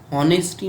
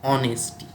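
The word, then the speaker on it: honesty: আর পরের এক্সাম্পলটায় হনেস্টি, উচ্চারণটা হনেস্টি নয়, কি উচ্চারণ? অনেস্টি।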